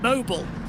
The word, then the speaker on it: Mobil: The last corner here is pronounced Mobile.